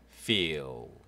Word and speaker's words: feel: 네, feel F니까요. 예, 아시죠? 아랫님 윗입술 feel 해서 EE 이렇게 되는데 fell 아닙니다. feel 해서 L 발음 feel 말지 마신다고 몇 번 말씀드렸습니다. L은 약간 으 발음, 약한 으 발음 feel 이렇게.